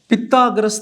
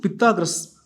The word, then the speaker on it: Pythagoras: பித்தாகரஸ் theorem, பித்தாகரஸ் PYTHAGORAS, பித்தாகரஸ் theorem. இது name of the person. ஓகேவா? சில பேர் பைத்தாகோரஸ் தியரம் கூட சொல்லுவாங்க. உங்களுக்கு எது ஃபெமிலியரோ அதை ப்ரொனவுன்ஸ் பண்ணிக்கங்க. ஓகேவா?